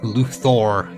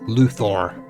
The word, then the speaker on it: Luthor: Every time I say Luther, I always want to say it like Kevin Conroy did cuz he always said it Luthor. He always said it as like he very parsed out of both syllables.